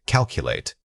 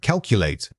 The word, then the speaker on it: calculate: Say it again, calculate. When you pronounce this word, think of it as a series of sharp movements, K-A-L-K. The key is the clear, almost mechanical delivery of those consonants in sequence.